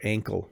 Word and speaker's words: ankle: Did I talk about schwa already? I think I did. It's when the E is, or the not just the E, but the vowel is super shortened, right? So ankle.